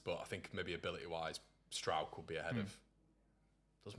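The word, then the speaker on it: Struijk: But I think maybe ability-wise, Stroud could be ahead of. Does my head in about. At least you lads pronounce his name right as well. Struick is what we get all the time.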